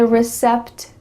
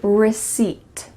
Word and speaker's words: receipt: Instead, the P is silent. So you're gonna say receipt, receipt.